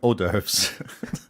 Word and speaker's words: hors d'oeuvres: crowd watching you okay orders no doves oh doves that's how it's spelled oh doves yeah but it's not said that way i believe it's french anyways the french need